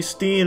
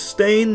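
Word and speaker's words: Berenstain: It's always been Stain, not Baronstein. Everyone, every everyone, every they all want to pronounce it Stain, but it's Stain. Ever since I was a kid, they call me Steen. It's Stain, though.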